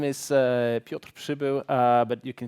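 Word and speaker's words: Piotr Przybył: the drill so uh my name is uh piotrop Cebu but you can call me or Peter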